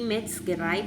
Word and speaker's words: Metzgerei: Metzgerei, es die Metzgerei porque termina en EI. Acuérdense que EI se pronuncia ahí, ¿sí?